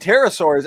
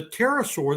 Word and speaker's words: pterosaur: And when I got in there was a pterosaur that was flying away. And so Ms. McQueen asked me, well, why didn't you hear it earlier? And I said, well, the P is silent.